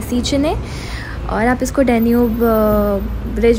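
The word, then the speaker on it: Széchenyi: इसका exact pronunciation है सीचने, और आप इसको डैन्यूब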